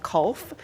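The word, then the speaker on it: kolf: game at the time called Kulf, which is spelled like golf except with a K, which seems to be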